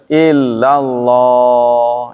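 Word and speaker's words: إلا الله: Nah ini kalau illallah itu harus disentak ya. La ta'budun. Ingatlah ketika kami mengambil janji kepada Bani Israel. Apa isi perjanjian itu? La ta'buduna illallah. Jadi kalau kita bacanya illallah nggak disentak, itu artinya kepada. Janganlah kalian beribadah kepada Allah. Ya, kan salah itu. Jangan ibadah kepada Allah, kan salah kan? Jadi harus illallah.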